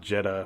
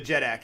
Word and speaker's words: jeddak: the wood what's up the jeddak yeah I say it wrong Jetta the jeddak yeah that's a Jetta